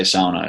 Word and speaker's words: sauna: oh by the way I'm gonna say sauna it's that's the correct way to say it okay sauna read the